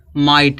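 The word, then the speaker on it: might: laugh माने हसना फिर यहां देखो माइट है माइट में क्या है जी एचटी लास्ट में क्या आया जी एचटी आया है अब जीएच क्या हो जाएगा साइलेंट माइट माइट माने क्या शक्ति होता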